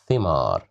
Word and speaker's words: ثمار: Okay, so here we have kasra right below the letter th, so we will pronounce it as thi, thimar, thimar, ثعلب, ثعبان, thimar.